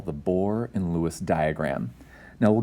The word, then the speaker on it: Bohr: to be our Focus notice that this word isn't spelled like just a bore like b o r e but rather B HR that's a gentleman's name